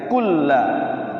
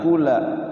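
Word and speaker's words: كُلًّا: Kulla tasyid itu sukunkan dulu cara bacanya. Kulla. Kulla. Jangan kula. Kulla.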